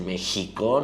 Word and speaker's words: México: Es X, pero se dice México, ¿no?